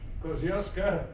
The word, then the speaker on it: Kościuszko: And I believe the general in charge of that Polish Kościuszko division, they call it, Kościuszko, the Aussies pronounce it.